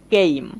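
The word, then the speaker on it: came: শেষে কিন্তু ই মিউট আছে। অর্থাৎ সাইলেন্ট আছে। কিন্তু এইখানে এই যে ই লেটারটা আছে এটা সাইলেন্ট হওয়ার কারণে কিন্তু এই এই লেটারটা একটা লং সাউন্ড দিচ্ছে। মনে রাখতে হবে এটার উচ্চারণ এই হয়ে গেছে। দেখেন কেইম।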